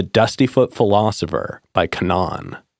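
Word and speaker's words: K'naan: it's called the dusty foot full philosopher by Canan it's spelled k apostrophe n a a n and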